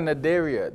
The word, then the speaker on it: Cnidaria: Next, we've got Cnidaria. The sea is silent.